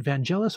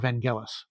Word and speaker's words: Vangelis: punchline punchline artist vanel is it Vangelis or Vangelis I think both pronunciations are um technically legitimate but I'm not sure if uh anyone is preferable preferred by him or uh whatever but